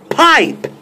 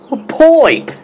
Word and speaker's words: pipe: first grade, they said when you have that I there, and then there's a consonant, and then another E after it, it's a long I sound, and that is an I, pipe. I hear from you all the time, poipe.